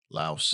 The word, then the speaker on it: Laos: Two days later, the wreckage of Baron 52 was located in the jungle deep inside Low, how did you pronounce it? Low. Laos.